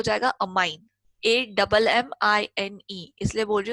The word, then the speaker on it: ammine: करेंगे कॉम्प्लेक्सेस में, तो अमोनिया का हो जाएगा अमाइन, AMMINE, इसलिए बोल रही हूँ स्पेलिंग इंपॉर्टेंट है, AMMINE.